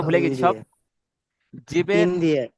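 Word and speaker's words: ز: তারপরে দেখেন বেশ, দেখেন তারপরে দেখেন এটা হলো জা, জা। দেখেন যে উপরের দাঁত এবং নিচের দাঁতটা কি একসাথে চেপে উচ্চারণ করতে হবে, জা, জা।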